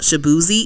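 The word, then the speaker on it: Shaboozey: So we're talking about the Beyonce album, and we were talking about Shabuzi.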